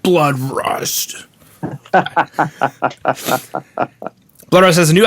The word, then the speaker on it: Bloodrust: I'm your host, John Harris, and today on the Rock Metal Podcast, we have a Blood Rust. You have to say it like that. Blood Rust.